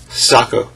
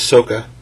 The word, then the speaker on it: Sokka: didn't give the brother I he remembers named Socko saw Sokka was who the name's Sokka Sokka suck it was thus Sokka Sokka um